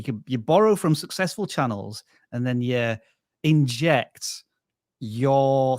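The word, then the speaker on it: Cannell: what you do yes my name is Channel rhymes with YouTube channel I started shooting videos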